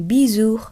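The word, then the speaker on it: bijou: ও উ উচ্চারণ হবে উ, যেমন বিজু অর্থাৎ গহনা।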